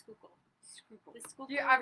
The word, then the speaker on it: Schuylkill: humidity there, because there's the Schuylkill River and then the Delaware. How do you spell Schuylkill? Can you spell It's Schuylkill?